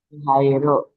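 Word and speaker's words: はいる: ini wairu bukan wa ini bukan wa karena dia di awal tetap dibaca hairu.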